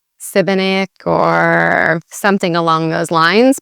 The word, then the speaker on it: Šibenik: with the accent, so the sh actually sounds like an SH, sh. So it's she, the I sounds like an E sound, so Šibenik, Šibenik. And again, the emphasis on the first part of the word, not like the second